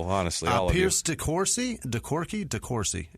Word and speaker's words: DeCourcy: DeCourcy. It's Corsi. I'm pretty sure of it.